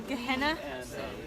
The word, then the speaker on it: Gehenna: Down the Gehenna, right?